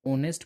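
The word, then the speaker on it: honest: यहाँ पर ऑनेस्ट जो एच साइलेंट रहेगा और एच के बाद जो ओ आता है वो मतलब ओ से पहले एच साइलेंट रहता है। ऑनेस्ट पढ़ेंगे, ओ साउंड से शुरू हो रहा है इसीलिए ये वॉवेल साउंड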